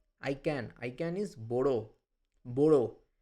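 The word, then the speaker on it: μπορώ: Now, there is one thing to note here is that this mu and pi m and p, this is an irregular cluster of letters. These are pronounced as b.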